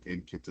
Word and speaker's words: Nkita: And the I was told say just how it's written the N and the kit. So init.